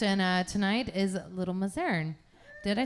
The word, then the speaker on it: Mazarn: a new guest and uh tonight is little mozaren did i say it right again mazarin i did okay i always second-guess myself barn